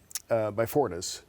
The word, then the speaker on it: Beyfortus: Okay, well, and how long, when we were talking about the Beyfortus, am I pronouncing that correctly?